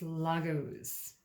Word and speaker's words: Laguz: Laguz. I would have pronounced it wrong. It's Laguz. Laguz encourages you to immerse yourself in the experience of living without having to evaluate or understand.